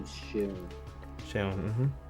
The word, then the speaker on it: Seun: I have a young man here that his name is Sheun. Sheun. Mm-hmm. Sheun is spelled Seun.